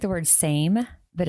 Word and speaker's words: SAMe: So, the first one is pronounced SAM-e, and it's spelled capital S, capital A, capital M, lowercase E. So, it looks like the word same, but it's capital S A M lowercase E, pronounced SAM-e.